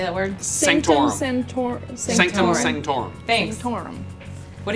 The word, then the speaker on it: Sanctorum: Sanctorum.